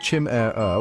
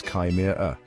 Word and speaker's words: chimera: And speaking of mouthfuls, the pronunciation of chimera is often a beast of its own. Some people go with chim-er-er, while others prefer kim-er-er.